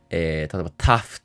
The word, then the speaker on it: tough: 例えば、「tough」という単語は、「f」の音を表すために「gh」と綴られています。うん。「through」のような単語では、「gh」の音は発音しません。